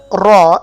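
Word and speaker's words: ر: letter raw actually so you can pronounce this letter by putting your tip of your tongue you can see in this picture your tip of your tongue with the gums of your upper front four teeth upper front four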